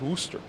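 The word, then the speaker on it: Worcester: is popping fowl says warcaster is pronounced wooster okay so who decided to cut off the c's in that equation do let me know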